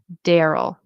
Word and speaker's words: Daryl: Personally, I use the first one, Daryl. This one, it says it's like the first vowels like in cat. A daryl. Again, that sounds really weird for me. I say Daryl.